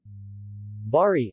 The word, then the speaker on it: Bari: vari Italian pronunciation vari listen Maurice there V ash are